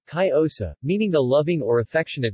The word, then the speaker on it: Cariñosa: Cariñosa, Spanish pronunciation, Cariosa, meaning the loving or affectionate one, is a